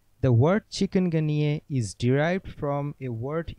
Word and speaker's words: chikungunya: chicken plus gun plus ye yes the correct pronunciation is chicken ghaniere the word chicken ganier is derived from a word in the kimakonda language meaning to become contorted chicken gunier is an infection caused by the chikungunya virus